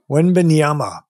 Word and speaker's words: Wembanyama: How do you pronounce his name? Victor Wembanyama. Wembanyama.